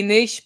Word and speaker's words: niche: Okay, so I promised the topic would be niche businesses today, and then John Willis corrected my pronunciation and said niche, and I say niche.